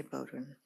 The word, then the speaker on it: Beaudoin: Attorney Fishman, I'm sorry, I got your name wrong. Okay, Attorney Bowden. Good morning, Your Honors. May it please the court, for the Commonwealth.